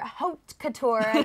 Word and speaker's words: Haute Couture: tell us about it so this is Dior Haute Couture that's how you say it in the high